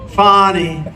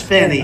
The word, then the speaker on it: Fani: It's pronounced Fani, F-A-N-I, that's Fanny. She likes it Fani.